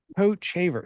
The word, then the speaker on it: Kochevar: me so who knows coat shaver see I wrote it down I wrote coat Co a t and then shaver but I didn't put like a long a yeah gotcha thing over